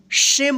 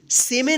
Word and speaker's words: shame: तो क्या होगा? शेम पढ़ेंगे इसको, सेमे नहीं पढ़ेंगे, नहीं तो गलत हो जाएगा।